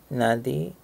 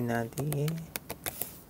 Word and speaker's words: nadie: Algo, nada, algo en, nadie. Let's see, let's just confirm that pronunciation in just a second. Think should be nadie.